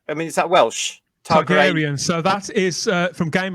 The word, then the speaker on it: Targaryen: Targaryen.